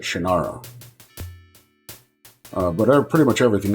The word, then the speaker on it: Shannara: to the sword of shanur you must face and Destroy brona forever you know it's also interesting that this whole thing they're pronouncing it shanur and I've always pronounced it shinara uh but pretty much